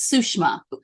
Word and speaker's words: Sushama: Sushama is a Hindu name, and its correct pronunciation is Sushma.